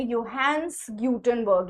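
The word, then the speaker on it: Johannes Gutenberg: तो इट was invented in Germany bye योहंस गटनबर्ग। Right? इनका नाम है योहंस गटनबर्ग। लिखा जे है लेकिन प्रोनाउंस हम इसको योहंस गटनबर्ग के नाम से जानते हैं।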